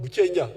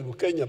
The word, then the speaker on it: Bukenya: There was another Muganda called Buchenya. The Waganda were calling him Buchenya. His real name is Bukenya, but you know Banyangore cannot pronounce some of those things.